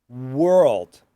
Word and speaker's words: world: You can say were, try to get that American R, tongue going back, were, and then old.